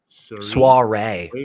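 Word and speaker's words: soirée: uh it's spelling is s-o-i-r-e-e Soiree Soiree it's a French term that the English pronounce incorrectly yeah skeptic Soiree okay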